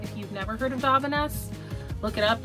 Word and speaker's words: Davines: If you've never heard of Davines, look it up. I think it's actually pronounced Davines, but I just think Davines sounds fancier, so I end up saying it all the time.